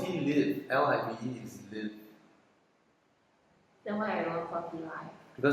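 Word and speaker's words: Tealive: Support Malaysia, tea life. Live. Of course it's tea live.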